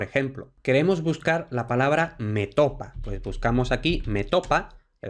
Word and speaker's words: metopa: Esto lo que quiere decir es que, bueno, pues la grafía y la pronunciación recomendada es metopa, pero también es aceptada métopa, esdrújula.